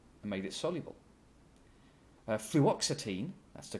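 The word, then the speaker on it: fluoxetine: a strong base and made it soluble uh fluoxitine that's the correct the correct pronunciation well that lone pair of electrons there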